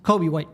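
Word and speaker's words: Coby White: kby there's no l it's pronounced almost exactly like Kobe and Kobe Bryant just spelled completely differently like 75% of the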